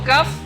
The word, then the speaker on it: ك: Kalau Kaf tidak terlalu tebal, biasa saja. K.